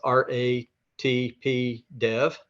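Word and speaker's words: RATP Dev: company whose name is r a t p Dev you don't say it you spell it r-a-t-p Dev um and we we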